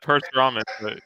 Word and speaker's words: Parasuraman: I'm here joined live by Paul Austria, Danny Gillette, Parasuraman. Did I say it right? Not bad. Perth-Raman.